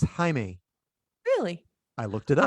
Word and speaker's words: Jaime: But it's not pronounced Jamie. It's Jaime.